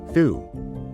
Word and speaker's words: the: The is a bit special because it has two main pronunciations depending on the sound of the word that follows it.